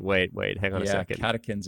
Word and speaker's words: catechins: Catechins. It's spelled in the literature CATECHINS, pronounced catechins.